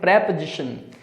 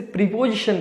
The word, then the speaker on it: preposition: फिर हमारे सामने है प्रेपोजिशन। Most of the students इसे प्रीपोजिशन बोलते हैं, दैट इज इनकरेक्ट। इसे हमेशा प्रोनाउंस करें प्रेपोजिशन।